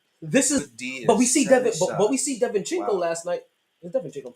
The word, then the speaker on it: DiVincenzo: DiVincenzo. DiVincenzo.